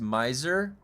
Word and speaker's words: Muad'Dib: It's actually pronounced Muad'Dib.